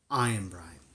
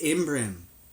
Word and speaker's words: Imbrim: Iambrine, she pronounced it. It's Imbrim, I corrected her, unable to help myself.